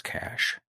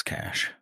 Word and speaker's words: cache: is a problem for me now is it pronounced cash or Cache it's cash you know it you know it's cash um get for GIF what fam where do